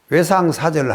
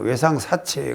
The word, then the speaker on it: 외상사절: 외상사절을 하니까 외상사체 그러기를 안 되고, 외상을 옛날에는 안 준다 할 때 외상사절합니다 할 때는 이 절이라고 읽거든.